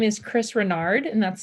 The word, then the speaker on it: Renard: to the jury yes my name is chris renard and that's spelled r-e-n-a-r-d what do you do for a